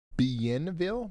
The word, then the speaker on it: Bienville: It's pronounced Bienville?